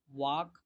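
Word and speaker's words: walk: ended মানে শেষ হওয়া, ওয়াক ওয়াকড ওয়াকড ওয়াক এখানে কিন্তু এলটা সাইলেন্ট থাকবে, এলটা সাইলেন্ট দেখেন, ওয়াক ওয়াকড ওয়াকড হাঁটা,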